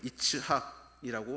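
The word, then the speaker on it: יִצְחָק: 여기서 놀리다라고 번역된 히브리어는 메차핵이라고 발음을 하는데 이삭의 이름은 이츠학이라고 말을 합니다. 뿌리가 같은 단어에서 나왔습니다.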